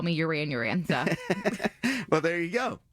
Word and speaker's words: Yuran: name, I'm always like, it's like Duran Duran, but with a Y. So a lot of people I've worked with in the past will call me Yuran.